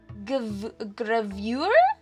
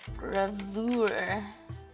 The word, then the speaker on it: gravure: Gravure. Search. Oh, it's French! Okay, this is how you pronounce it. Gravure, gravure, or gravure.